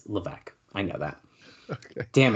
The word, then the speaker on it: Levesque: Oh, I said it stupid because I know a friend who used to say that. Paul Levesque. Yeah, It's fucking, I think Joe used to say it like that, so the joke came in my head. Levisque. Damn it. Okay. No, that's a friend used to say it as a joke. It's Levesque.